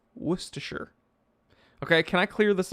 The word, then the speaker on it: Worcestershire: worcestershire is because the first word worcester is followed by shire however you don't pronounce it new hampshire you don't print out you know our main boulevard wilshere boulevard in los angeles you don't pronounce it will shire worcestershire i'm gonna this is gonna dude i know this is gonna get me in hot water from some people it's actually the wool cast a shot didn't you know